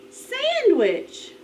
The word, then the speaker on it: sandwich: two fingers ready sandwich listen again sandwich the accent is on the first syllable let's try again listen